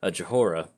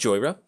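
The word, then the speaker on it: Jhoira: Playing against Joyra, or if you're a fan of the channel, Johora. That's how I pronounced it the first time I played her, so...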